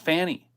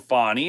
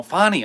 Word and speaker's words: Fani: think of something but her name by the way is not Fanny she's very upset about about this now I mean I just looked at it f an ni I and I pronounced it Fanny I didn't even understand and then I kept hearing fonnie and then I heard Fanny fonnie Fanny fonnie Fanny I don't